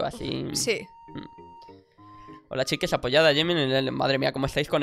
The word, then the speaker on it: Jimin: Para que me dijesen la pronunciación. Es Jimin, ¿no? La llamáis Jimin, tal cual.